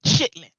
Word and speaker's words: chitterlings: And black folk would pronounce it chitlins.